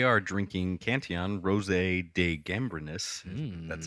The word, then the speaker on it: Gambrinus: We are drinking Cantillon Rosé de Gambrinus. That's how you pronounce that.